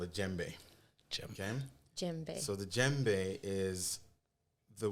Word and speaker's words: djembe: Djembe. So the djembe is the word that most people are used to, and it's spelled D-J-E-M-B-E.